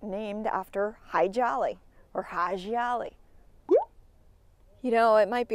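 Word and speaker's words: Hadji Ali: And actually, High Jolly really isn't how you pronounce his name. I believe it's Haji Ali.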